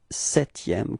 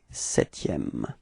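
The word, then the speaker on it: septième: repeat okay and then setm keep in mind that you don't pronounce this P okay setm all right repeat okay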